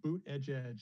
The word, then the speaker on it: Buttigieg: sort of, you know, boot edge is a good way to pronounce it if you're ever kind of stuck on that name.